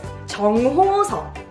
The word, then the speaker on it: 정호석: Our next one is 정호석.